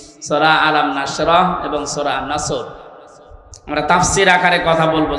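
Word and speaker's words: نصر: এজন্য তেলাওয়াত যখন করবেন উচ্চারণটা মুখ গোল করা লাগে আল্লাহ পাক জানিয়েছেন যখন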